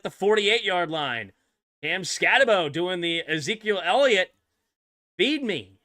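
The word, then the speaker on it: Skattebo: It's 10, but everybody says Scataboo. I'm calling him Scatabo. He ain't Scataboo. Add an extra O or a U at the end of your name if you want Boo.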